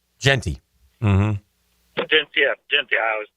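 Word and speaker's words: Jeanty: So okay, tonight we're going Gentry. Genty. Mm-hmm. Genty. I always mispronounce it.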